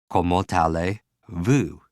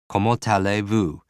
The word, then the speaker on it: comment allez-vous: Imagine, just break it down into something that sounds just a little bit like it. For me, I imagine I'm in France. I see the Eiffel Tower in the background. I'm going to somebody and saying, how are you? And they say, come on, to this alley, see this view.